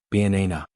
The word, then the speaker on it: banana: For example, in banana, the stress is on the second syllable, banana.